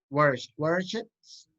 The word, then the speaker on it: watersheds: Watersheds. Es más una E a una I. Watersheds. Ok. Watersheds. Muy bien. Porque a veces uno se equivoca y le pone una I, suena watersheds, sería como ríos de mierda, literalmente.